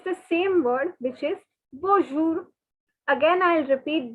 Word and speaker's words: bonjour: same word which is bonjour again i'll repeat don't pronounce the n guys don't pronounce the n okay it is bonjour so okay this is